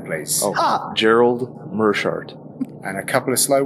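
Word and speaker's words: Meerschaert: Gerald let's hear uh it does not rhyme with smear uh let's hear Gerald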